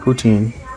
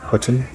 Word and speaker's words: poutine: So I'm gonna get the Poutine, not Poutine, Poutine. And server told me that Poutine is the correct way to say it.